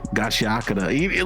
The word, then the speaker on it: Gachiakuta: We just got done watching episode 3 and 4 of Gachiakuta.